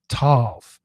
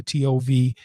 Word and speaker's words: tov: I want to talk about spend some time on that one Hebrew word, tov. It's three letters, t o or t u v or t o v and it means it's